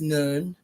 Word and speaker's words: Nun: Um, Egyptians said the primal the primeval seaw was the goddess Nun nu n spelled like nun.